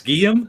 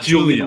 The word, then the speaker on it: Guillem: What's that first name again? Guillem. It's Guillem? I Yes. love that. I've always thought that was a cool name. Not Julian, like you pronounce it.